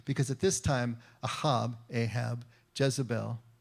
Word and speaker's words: Jezebel: Because at this time, Ahab, Jezebel, Isabel is the way it would be pronounced in Hebrew, the king and queen, they have already gone to the foreign gods.